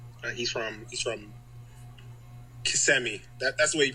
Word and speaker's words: Kissimmee: of cool to just see like he's from Kissimmee. That's the way you pronounce it, right?